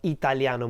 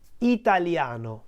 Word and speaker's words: Italiano: there are five syllables Italiano whereas in Italian the word Italiano has four syllables no what happens here is that the two vowels I and a in the middle Italia no are actually part of what we call a diphthong in Italian ditongo so they are not in two different syllables they are in the same syllable no whereas in the